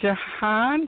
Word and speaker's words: Jahaan: now your last name am I saying Jehan correctly yes and I want to